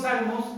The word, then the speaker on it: salmos: Y significa, la P no se pronuncia, salmos, en inglés así se escribe salmos con P al principio, porque es una transliteración del griego, ¿okay?